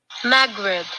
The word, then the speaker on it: Maghreb: Pronunciation. Okay, let's do this. Okay. Maghreb.